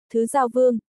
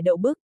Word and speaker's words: Thứ Giao Vương: Này, phát âm chính xác chút. Đọc theo ta, Thứ Giao Vương, không phải Đậu Bức.